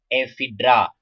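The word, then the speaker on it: Ephedra: ठीक है, नीटम में भी देखो ये स्पेलिंग का इसको गौर करना है, ये नाम ऐसे लिखा जाता है जी, इसमें साइलेंट होता है।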